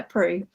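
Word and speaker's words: Proulx: And Ariane says it is pronounced. I can't read the comment now because it's gone away. Prue. Pronounced Prue. Yeah. Sorry, I am bad at pronouncing stuff, but yeah, Prue.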